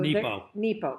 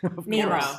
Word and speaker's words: Mark Nepo: So Nepo. Mark Nepo. Did I say it wrong? Nemo. I said Nemo.